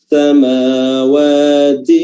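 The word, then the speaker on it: السَّمَاوَاتِ: Samawati, mim di sini 2 harokat mad tabi'i, dan waw juga 2 harokat mad tabi'i, dan ta atau ti ya, memiliki sifat hams, ti ya, dikeluarkan dengan baik sifat hamsnya, jangan ti saja, ti, tapi ti.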